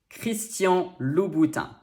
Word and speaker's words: Christian Louboutin: number three christian louboutin ch in french sounds like except when it doesn't a few words just ignore the h entirely and well you just have to learn them this is not the only difficulty that christian louboutin has in store for us it also has not one but three different digrams first you have o u which in french sounds like u next a n which